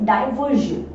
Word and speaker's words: diversion: It also ends with SION और उसके just आगे R है, तो इसलिए SION का जो उच्चारण है वो क्या होगा, जन होगा। तो दैट इज डाइवर्जन।